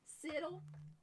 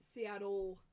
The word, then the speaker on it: Seattle: Siddle. It's Dana's fault. Everything is Dana's fault. Any true Washingtonian pronounces it Seattle. We do not say our T's.